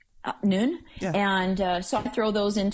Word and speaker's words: Nuun: I took those Nun tablets, Nuun. I'm not sure exactly how they say that. You said it right. And Noon.